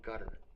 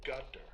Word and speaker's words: Qatar: Qatar. You said Qatar. It's back here. It's called a qaf. But so I've heard Qatar. Yeah, it's not Qatar, but you're saying it like a G?